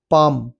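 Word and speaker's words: palm: पाम पी ए एल एम पाम इसमें नहीं है। एल साइलेंट है।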